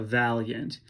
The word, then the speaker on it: valiant: Valiant sounds like 2 syllables. So became the accents of the valiant only gives us 9